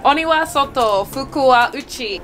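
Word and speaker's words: 鬼は外、福は内: Oniwa soto, fukuwa uchi.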